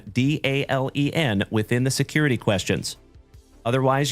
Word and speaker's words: Dalen: So, like I said, folks, if you are new here, my name is Dalen. D-A-L-E-N, like Dale plus N.